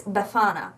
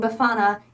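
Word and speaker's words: Befana: you a pronunciation so the emphasis is on the middle syllable it's beana so thank you very much to the person who told me that I was saying buana incorrectly the entire previous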